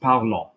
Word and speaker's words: parlant: And the amount of people that know that and they start reading with me and they say, il parlant. ENT is silent.